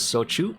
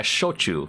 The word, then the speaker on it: shochu: So it's pronounced as Sochu? Yeah, Shochu. But yeah, it's pretty similar to how it's spelled.